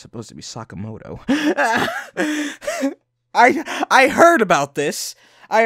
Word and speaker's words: Sakamoto: But to think it'd be you, Sakamoto. Excuse me? Excuse me? Can we play that back again? I thought it was some petty thief, but to think it'd be you, Sakamoto.